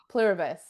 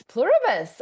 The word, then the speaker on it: Pluribus: I'm looking forward to tonight watching my new favorite show, Plurus. Oh, am I saying it right? Yes, Pluribus.